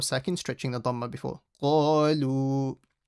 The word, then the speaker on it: قَالُوا: قَالُوا. Now this alif over here is silent because there's no fatha before it, so it doesn't do anything. قَالُوا. Make sure you read the qaf properly.